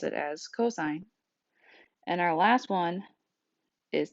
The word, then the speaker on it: cosine: however again you need to make sure you pronounce it as cosign and our last one is tangent so which